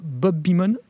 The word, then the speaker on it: Bob Beamon: Depuis les JO de Mexico en 1968, c'est l'Américain Bob Beamon, je prononce bien ?